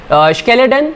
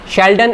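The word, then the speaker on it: Schleiden: एक थे शेल्डन एंड दूसरा थे श्वान, शेल्डन एंड श्वान, ध्यान से समझिएगा, शेल्डन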